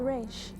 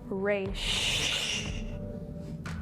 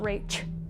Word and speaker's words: Raiche: Q&A with Raiche. So, first question. How do you pronounce your name? How do you pronounce my name? It is Raiche. Not Raiche. Raiche.